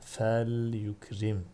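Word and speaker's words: فليكرم: Fe liyekul, fe liyukrim şeklinde okudum. Burada lamın harekesi belli olsun diye. Yoksa fe liyekul diye okunmaz. Fel yekul şeklinde. Fel yukrim şeklinde okunur.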